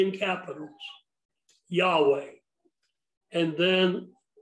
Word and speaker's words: Yahweh: now yahweh putting in the vows to make it pronounceable is a transliteration of yhwh as i said to make it pronounceable and as i also said many chose to say jehovah instead of yahweh i personally believe for whatever that's worth that yahweh is god's preferable name l o r d